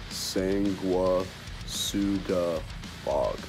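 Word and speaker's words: Sanguisugabogg: This is how you say it, Sang-wa-su-ga-bog.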